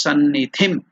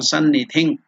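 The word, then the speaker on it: सन्निधिम्: To that we are adding anuswara, it becomes sannidhim or sannidhing, kuru. So that is the pronunciation.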